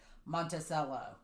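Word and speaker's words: Monticello: too is it pronounced in Arkansas is it pronounced Montello or monello and she looked at me and she said Montello okay that's like here if you ask me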